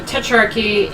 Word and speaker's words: Tetrarchy: So, Tetrarchy in 293 CE, in an attempt to restore order to the Roman...